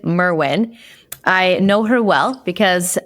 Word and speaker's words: Merwin: today it's my honor I realize I said your last name wrong Kristen Merwin I know her well